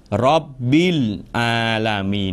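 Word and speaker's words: رب العالمين: า จ ะ อ่ า น ว่ า Rabbil Alamin น ะ ค รั บ Rabbil Alamin เ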